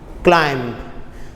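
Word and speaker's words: climb: इस तरह हम कहते हैं क्लाइंब, तो एम को हम जो है बहुत मामूली सा, सिर्फ उसकी आवाज़ कंप्लीटली नहीं निकालते, साइलेंट वर्ड है, तो वो क्या होता है, क्लाइंब।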